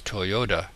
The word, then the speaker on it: Toyota: as a t but in america we slur our t into a d and pronounce toyota as toyota anyway so insofar as